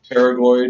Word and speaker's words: pterygoid: Pterygoid is spelled with a P. It is not pronounced pterygoid. It is just pronounced pterygoid. The P is silent.